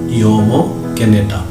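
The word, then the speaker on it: Jomo Kenyatta: of yomo j.o.m.o kenyatta it should be pronounced as yomo kenyatta the author yama kenyatta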